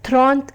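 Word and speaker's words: trente: 30, which is pronounced as Thront and is written as TRANTA.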